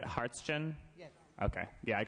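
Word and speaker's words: Hartschen: e n correct and what's the pronunciation is it harsin yes okay yeah I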